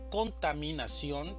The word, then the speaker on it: contaminación: Contaminación tiene 5 sílabas, una sílaba tónica y 4 sílabas átonas. La mayor fuerza de voz va a estar en ción, contaminación.